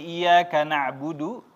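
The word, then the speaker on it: إِيَّاكَ نَعْبُدُ: betul hati-hati di sini iyaka nabudu pendek tidak panjang salah kalau panjang itu ya hanya kepadamu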